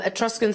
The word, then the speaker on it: Etruscans: time of the ancients if i pronounce this right etruscans have i said that right it is it trusts is it yeah um etruscans there you go so for a long